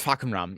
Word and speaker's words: Fakumram: I'm scared of saying It's Fakumram, yeah.